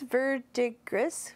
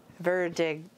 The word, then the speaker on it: verdigris: Verdigris. Verdigris. Verdigris. You have to say that with an accent. You have to roll your R's on that one, do you, Callie?